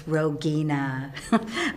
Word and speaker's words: Rogina: But we appreciate you clarifying. It's Rogina.